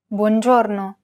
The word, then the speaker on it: buongiorno: In most Italian words, the stress falls on the second to last syllable, so you'll need to pronounce this a tiny bit longer and louder than the other syllables, but not by much. Avranno, buongiorno. Apart from the stressed syllable, all